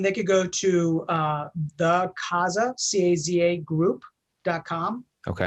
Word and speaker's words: Caza: Caza Properties was our roots. Yeah. Caza means to hunt in Spanish, right? CAZA. It's also play on words. It sounds like house, right?